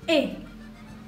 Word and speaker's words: est: Di situ perubahan bentuk être-nya adalah e ya, jadi est, pronunciasinya e seperti tadi untuk perubahan bentuk être di subjek to.